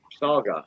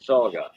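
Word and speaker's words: saugeye: walleye and musky mix how you spell that s.a.u g-e-y-e okay saga oh yeah okay like a walleye but saga yeah yeah 16 of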